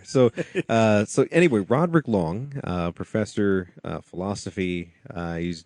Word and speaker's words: Long: say who rodk is because not everybody wck Wong yeah yes he just said the name wrongly but it's okay so uh Wang we yes like meline Khan here so uh so anyway Rodrick long uh Professor philosophy uh heed down at Auburn